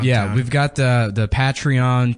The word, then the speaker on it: Patreon: Yeah, we've got the the Patreon p I said I used to call it Petraon like General Petray. Suck it and That's how I thought you pronounced it and then somebody laughed